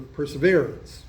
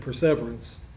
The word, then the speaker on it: perseverance: In Luke, these modern versions read along these lines: by your endurance, or your perseverance. I nearly said perseverance, which is the British pronunciation.